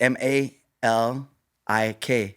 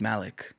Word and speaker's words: Malik: M A L I K. Mhm. You would think it's Malik, right? Right. No, it's Malik.